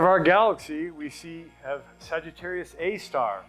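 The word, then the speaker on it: Sagittarius A*: galaxy we see have Sagittarius A star that's how you say it it's an asterisk but we don't say asterisk um it's a giant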